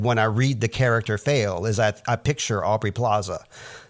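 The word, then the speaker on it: Faile: Her name is spelled F-A-I-L-E, and I've always just read it as Fail. Some people might say Fail-E, but this is a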